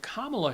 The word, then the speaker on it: Kamala: Camala Harris I'm sorry Kamala Harris just remember it rhymes with malamala which is what her